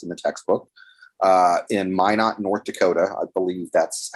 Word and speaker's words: Minot: revealed is discussed in the textbook uh in minot north dakota i believe that's how you pronounce that town in north dakota there was